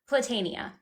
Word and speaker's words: Platania: so how do you say your last name platania platania okay mispronounced by everyone so that's okay I was